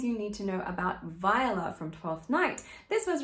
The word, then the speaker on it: Viola: you pronounce her name viola not viola or viola it is sometimes two syllables sometimes three if you want to